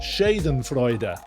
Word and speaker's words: Schadenfreude: Schadenfreude is the correct way to say the word, apparently.